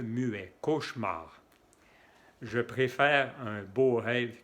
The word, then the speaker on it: cauchemar: on dit aussi un cauchemar et on ne prononce pas le ici c'est un e muet cauchemar je préfère un beau rêve qu'un cauchemar comment